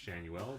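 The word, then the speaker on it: Schanuel: I'm aware his name is pronounced Shanuel, but I don't care.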